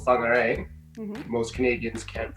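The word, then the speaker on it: Whangārei: in this video where I live now called fog array most Canadians can't pronounce right medically as a Canadian you with you at Wayne dairy but in the proper moldy pronounciation and fungi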